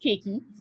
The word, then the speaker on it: khaki: I highlight some exceptions here, like the word khaki. For most of us, we pronounce it khaki. In Barbados, it's pronounced kaki.